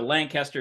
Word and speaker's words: Lancaster: Lancaster uh you can it rhymes with scan skank Caster right so Lancaster skank Caster that's how you know it's Lancaster we don't have Amish